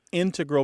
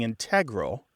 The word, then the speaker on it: integral: And generally, in all of the English dialects, words that have previously been stressed on the first syllable are becoming stressed on the second syllable. Okay. So, it's not just integral becoming integral, it's also words like applicable becoming applicable. Formidable becoming formidable.